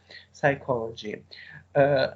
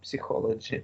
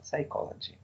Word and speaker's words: psychology: you should pronounce as psychology, not psychology. Not psychology, it is a mistake. So psychology. It is a Greek word, so it is like an exception from general rules of pronunciation of English words.